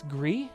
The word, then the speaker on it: Gris: But it's Gree, and that is how it's pronounced or something?